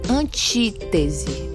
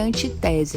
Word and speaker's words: antítese: E a antítese, certo? Antítese, não é antitese, viu, gente? Muita atenção na pronúncia dessa palavra.